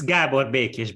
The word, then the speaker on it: Gábor Békés: It's Gábor Békés, but that was close enough.